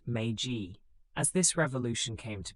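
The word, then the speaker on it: Meiji: The Magi Restoration, pronounced Magaji, as this revolution came to be called officially returned power to the emperor.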